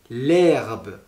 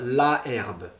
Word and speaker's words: herbe: Ensuite, le H muet, par exemple, le mot herbe, on va dire l'herbe, on ne va pas dire la herbe, on va dire l'herbe. H muet, cela veut dire qu'on peut mettre une apostrophe et on peut faire aussi la liaison, on peut l'entendre.